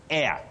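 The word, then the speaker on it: heir: word you say air that H is silent h e i r air so we have bet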